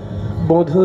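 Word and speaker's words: বঁধূ: কীর্তন জগতে বারবার বধূ বলেন রাধারানী শ্রীকৃষ্ণকে, বধূ হে কি আর বলিব আমি হে বধূ কি আর। এইখানে যে বধূ উচ্চারণটা ঠিক করে করতে হবে, চন্দ্রবিন্দুটা যেন থাকে। সাধারণত পূর্ববঙ্গের লোকের উচ্চারণে চন্দ্রবিন্দু একটু কম থাকে।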